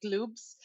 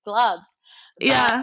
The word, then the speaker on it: Glubbs: saying it right because people sometimes say glopes which I'm like obviously gloves um I wanted to